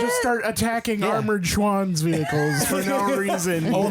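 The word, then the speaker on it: Schwan's: Ooh, I feel like Schwan is a scam. Mm-hmm. It might be, but it didn't taste like a scam. It's pronounced schwam.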